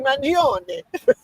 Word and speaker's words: Mangione: Correct pronunciation of the name, and so it's Luigi Mangione.